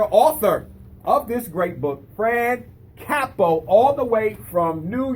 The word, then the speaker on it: Fran Capo: I said it right, Fran Capo.